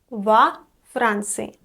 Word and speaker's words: во Франции: Note that in Russian prepositions are usually unstressed. So o in this case is pronounced like a, во Франции.